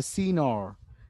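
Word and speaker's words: signor: উচ্চ মানে উজ্জ রাখবে, ওরা বলে সিনর, সিগ বলে না, জিটাকে উচ্চারণ করে না, সিনর, এটা একটা ইটালিয়ান ওয়ার্ড।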